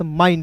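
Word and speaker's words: mind: ना यही फार्मूला हुआ यहां पे आई एन डी है तो इसमें जोड़ेंगे आइंड तो क्या हो जाएगा मेरे दोस्त माइंड हो हो गया ना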